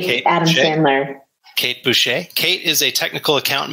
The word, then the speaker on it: Boucher: That's the way it's pronounced. Okay, cool. Big Kate Adam Boucher. Sandler. Kate Boucher.